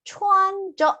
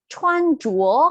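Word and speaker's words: 穿着: 보시면 타, 추안저 아니에요. 추안주어라고 읽으실 거예요. 추안주어 하게 되면 명사로 옷차림이라는 뜻으로서 쓰게 되거든요.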